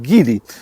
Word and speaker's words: Geely: Ja do niedawna też myślałem, że to jest Gil, ale okazuje się, że prawidłową wymową jest Gil.